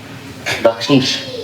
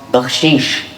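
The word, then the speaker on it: baksheesh: Bakshish in Farsi. Bakshish. So it pretty much rhymes with hashish.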